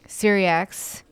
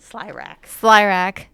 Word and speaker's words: Slyrak: Davion defeats the demon-possessed dragon, and so the dragon is Syriax. Did I say it correctly? Slyrak. Thank you. Sorry. Go with that, pronounce it Slyrak.